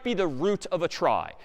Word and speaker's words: trie: And it's short for retrieval, but pronounced tri for weird historical reasons.